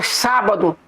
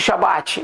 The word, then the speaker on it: Shabat: Que a pronúncia sábado é o mesmo que Shabat. Não é não, irmãos. A pronúncia sábado é totalmente diferente de Shabat.